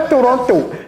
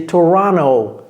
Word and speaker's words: Toronto: Ce n'est pas Toronto. Ici on n pas besoin du thé. C'est Toronto. Toronto.